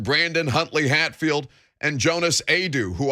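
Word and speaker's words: Aidoo: You're starting to get contributions from Brandon Huntley Hatfield and Jonas Adu, who I feel like I want to pronounce his name a different way every time I read it. But Adu's correct.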